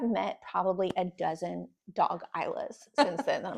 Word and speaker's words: Isla: balance of What is Isla? It's a great question. Oh, that's such a good question. And that is how you pronounce it, right? Yeah, Isla? yeah.